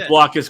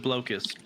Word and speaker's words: Blokus: And I will fight anyone who pronounces it blokus.